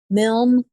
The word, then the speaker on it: Milne: Whenever they're getting on the internet, it's, how is that pronounced? Milne.